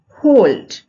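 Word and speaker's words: hold: होल्ड, होल्ड यहाँ भी एल हम पढ़ेंगे, एल यहाँ साइलेंट नहीं होगा क्योंकि कुछ एक्सेप्शन है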